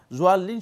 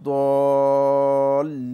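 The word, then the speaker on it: الضالين: জোয়াল্লিন শব্দ শুদ্ধ নয়, এটা জোয়া নয়, জোয়া একটা ত জোয়া একটি রয়েছে আরবি ভাষায়, এটা হচ্ছে মূলত দদ, এটা হচ্ছে দদ ওলা দলিন। এখানে মূলত উচ্চারণটা একটু নরম হবে, মানে দোয়ের উচ্চারণটা, দোয়াদের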